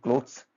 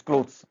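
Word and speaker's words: clothes: One smooth sound क्लोथ्स। इट्स क्लोथ्स। नॉट क्लोथिस। इट्स क्लोथ्स।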